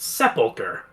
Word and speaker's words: sepulcher: Also, it's pronounced sepulcher.